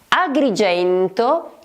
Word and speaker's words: Agrigento: Agrigento.